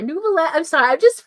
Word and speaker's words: Neuvillette: Oh, okay, it's Neuvillette. Okay, Nuvi Nuvi. I'm sorry, Neuvillette.